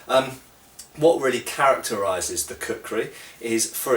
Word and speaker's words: kukri: long time actually is our good old friend the cooker okay um cooker uh can be spelled various different ways in um in Old sources um but usually uh in in Modern English it's spelled k u k r i um and it is